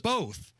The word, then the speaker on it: both: The word is both. B O T H. Yes. There's no L.